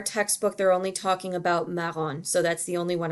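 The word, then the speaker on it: marron: because there's only one form of it there's maron and that's all you get there's also the word blonde and blue which you can use as well but in our textbook they're only talking about maron so that's the only one i'm going to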